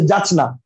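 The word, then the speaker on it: যাচ্ঞা: রাজ্ঞী একটা শব্দ, যাচ্চা মানে যাচ যোগ না জানচা, মানে জানচা না, অ্যাকচুয়ালি উচ্চারণ হচ্ছে যাচনা।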